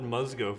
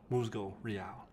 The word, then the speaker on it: Musgo Real: using the moosego real i i called it musgo for the longest time like a total idiot and i've seen the official pronunciation and so now i will sound cool by calling it muscle real but seriously um this is a new line